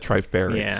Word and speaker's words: Trifarix: Trifar Let me see the spell. say it like Trifarix. Trifarix. It wasn't another I, so that threw me off.